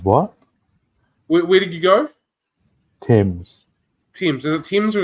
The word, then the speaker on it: Thames: I was thinking his is Neanderthal, and It's So- truly it's Thames.